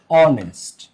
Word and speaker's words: honest: হ্যাঁ, যেমন an hour, an অনেস্ট।